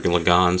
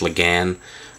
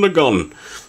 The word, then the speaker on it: Lagann: figure um some people have criticized me for lagon saying it's Lagan um I've never seen any evidence of that um maybe in the subtitled version or not the subtitled the dubbed version they say it like that um but I've watched the Japanese subtitles and it's always G lagon so uh that's what